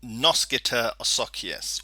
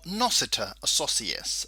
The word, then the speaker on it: noscitur a sociis: going to learn about noskitter asakiyas or nosita associas there are two ways to pronounce this rule literally this word means